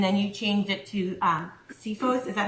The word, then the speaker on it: Cephos: And between you personally, because you used to charge personally and then you changed it to CFOs, is that how you say it? Cephos.